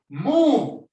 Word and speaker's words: move: For move, you have to put your top teeth to your bottom lip.